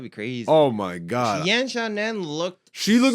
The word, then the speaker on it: Yan Xiaonan: Yan Xiaonan. Yan Xiaonan.